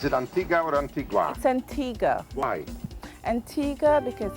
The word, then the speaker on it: Antigua: antigua or antigua why antigua because that's the way we pronounce it here on the island and we don't say it like the spanish antigua antigua antigua antigua antigua